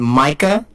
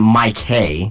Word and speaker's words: Micah: I think it's Micah. I think that's how you pronounce it. Micah. It's not Mike Hay.